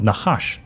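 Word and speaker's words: נחש: 在创世纪中，蛇念作 Nahash，它的词根的意思是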